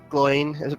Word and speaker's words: Gloin: Big shout out to both our runners, both Gloin, that's the way it's pronounced? Yep.